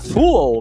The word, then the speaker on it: full: Então, quando a gente vai falar cheio é fall que ser breve. Se você prolongar full vai parecer que é bobo.